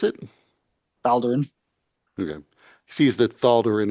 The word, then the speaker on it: Thaldurin: And then he sees that Thaldurin is, how do you pronounce it? Thaldurin.